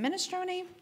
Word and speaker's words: minestrone: to be our minestrone is it minestrone do I say it like that okay perfect thank you